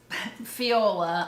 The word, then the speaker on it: Fjolla: So this is the Fjolla. I had to look it up and make sure I was pronouncing it correctly, and it said it.